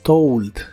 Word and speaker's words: told: en el pasado es told se pronuncia como si tuviera una u después de la O told told y se usa en